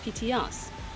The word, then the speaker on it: Petite Anse: Petit Ars, which is a hotel here, they pronounce it as PTS.